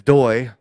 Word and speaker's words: Doy: Oh, we did say it right, apparently. It is Doy.